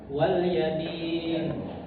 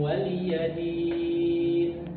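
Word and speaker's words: وَلِيَ دِينِ: Kemudian ee di kalimat lakum dininukum waliyadin waliyadin. Nah, ini ada beberapa yang sering keliru di sini itu membacanya waladin wal yadin kan. itu salah wali wali lakum dinukum waliadin waliadin waliya ya jangan waladin ah itu salah satu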